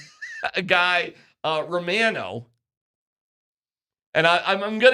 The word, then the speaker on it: Romano: He spells it just like Ray Romano, but he pronounces it Romano.